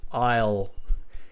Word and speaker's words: I'll: Isle okay I'll I'll it's like the IELTS Isle without the S I'll can you say IELTS